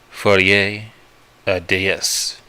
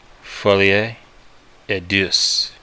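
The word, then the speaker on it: folie à deux: so did the bugs for da Deus is French for a man is shared by two ma'fucker mispronounced that Foley a dis is French for a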